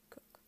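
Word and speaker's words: Coke: but the brilliant lawyer Edward cook pronounced cook who drafted the first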